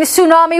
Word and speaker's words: tsunami: dunes t is for tsunami shhhh the charging tsunami washed away all of tchaikovsky's tchotchkes not all